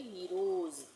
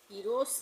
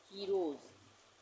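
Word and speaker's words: heroes: उसके बाद है हीरोज़, एस से पहले क्या आ रहा है, ओ ई, यहाँ पे हमने ओ ई भी लिखा है ना, तो ओ ई आ रहा है एस से पहले, तो यहाँ पे भी ज का उच्चारण होगा, यानी हम इसको पढ़ेंगे हीरोज़। हीरोस नहीं पढ़ेंगे, स के एस का उच्चारण स नहीं करेंगे, ज करेंगे, हीरोज़।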